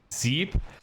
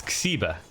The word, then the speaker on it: Xiba: Zeeb? Not quite. It's Xiba. Xiba.